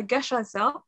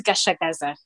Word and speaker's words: Gachagaza: Notre troisième panéliste aujourd'hui est Madame Denise Gachaza. Je ne sais pas si je prononce correctement le nom, je m'excuse si ce n'est pas le cas. Denise, est-ce que vous êtes avec nous? Oui, c'est Denise Gachagaza.